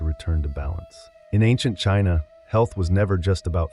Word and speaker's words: qi: In ancient China, health was never just about flesh and bone. It was about energy. The invisible vital force called qi, pronounced chi, flowed through every living